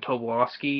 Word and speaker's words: Tobolowsky: Actually, the voice of the principal was Stephen Tobolowsky, you know, that's how his last name is pronounced.